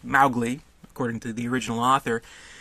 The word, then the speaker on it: Mowgli: continued mispronunciation of the name which should be pronounced Mowgli according to the original author because this movie